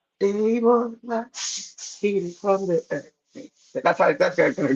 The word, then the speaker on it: Demola: Demola. That's how my name is De, pronounced in Nigeria.